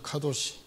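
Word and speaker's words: קדוש: 할 때 이 창녀와 성경의 거룩이라는 이 단어가 발음이 놀랍게도 유사합니다. 아시겠어요? 남창이라는 단어가 카되시란 말을 쓰고 거룩이라는 단어가 카도시입니다. 카도시.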